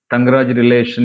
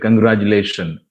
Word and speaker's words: congratulations: convey good news uh i say tangaraja relation instead congratulations will you follow tangaraja